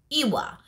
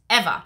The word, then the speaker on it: Ewa: otherwise people call it Ewa. That's how the spelling is. It's E-W-A, but it's Eva.